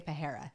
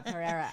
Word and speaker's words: Pereira: like an love and I always say his name wrong I want I want to say perara so badly or per yes uh Pereira I I I mean